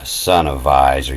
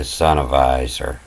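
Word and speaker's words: zonnewijzer: It lets me know that W pronounces a V. A sonnewijzer, to advise the time, the sonnewijzer.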